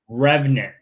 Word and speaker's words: RVNT: It's pronounced Revenant.